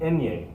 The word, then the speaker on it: ñ: with a tilde this is what we call enya it's its own letter if i'm writing out